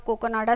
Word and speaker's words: काकिनाडा: एंड यह बना था काकिनाडा आंध्र प्रदेश उसी को इसलिए कोकोनाडा बोला है। ठीक है? उस टाइम उसका प्रोनाउंसिएशन उस तरह से हुआ करता था।